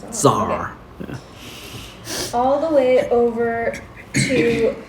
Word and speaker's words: tsar: iraq is in iraq also became tsar the sea does not pronounce so oh yeah zar all the way over